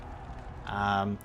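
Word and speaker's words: Czibor: We were wrong, as told by Shaper Zybor. I want to say that the C is silent.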